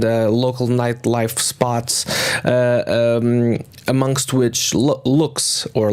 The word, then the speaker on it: Lux: of places and local nightlife spots amongst which looks or luxe but it's pronounced looks in in Lisbon and so you